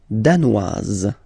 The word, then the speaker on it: danoise: Le Danemark, danois, danoise. Z, okay, insist on that. Danois, don't pronounce the final S. Danoise, here you pronounce it.